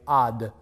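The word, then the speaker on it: עַד: So having said that about the word until, the Hebrew word, by the way, is pronounced simply ad, until. Ad, A-D.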